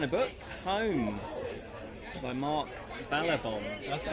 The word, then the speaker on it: Ballabon: So if you're interested in that kind of book, Home by Mark Ballabon. That's right. That's You actually pronounced it correctly.